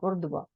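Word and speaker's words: Qurtuba: moss कुबता नहीं Kurd कुर्तबा कुर्तबा मस्जिद कुर्तबा को कहते हैं स्पेलिंग जि में डी लिखा लेकिन बोलने में कुर्तबा है कुर्तबा मस्जिद जो थी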